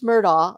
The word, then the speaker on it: Murdaugh: when we bring Paul into it because Alex murdaugh like I know the name I say it